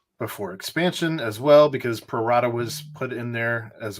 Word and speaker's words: pro rata: I think I said it right. Pro rata. You did say it right. Yeah, it's Latin, Ed.